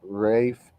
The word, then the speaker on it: Ralph: Lisa H said Ralph Fiennes is pronounced Rafe Fiennes.